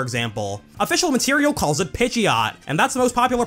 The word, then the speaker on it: Pidgeot: Official Material calls it Pidgeot, and that's the most popular pronunciation among fans too.